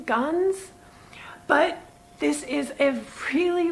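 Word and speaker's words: Ganz: Well, it's spelled Guns or Guns in 2 different places, but G-A-N-Z is what I think Google has it listed at, so Guns.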